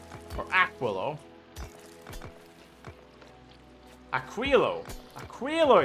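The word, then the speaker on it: Aquilo: Yeah, we can teleport to Aquoio or Aquillo. Aquillo. Aquillo is how it's supposed to be pronounced.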